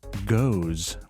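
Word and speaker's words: Gose: Yeah, I am very stoked for a goes with raspberry. They misspelled goose. Yeah, There's one O. it's a long O though, so it's pronounced goes.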